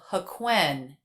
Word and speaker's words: HaQuyen: Did you notice how the second syllable of HaQuyen and the syllable Tom were the most stressed? They had that up-down shape, especially Tom, which came down in pitch at the end of the sentence.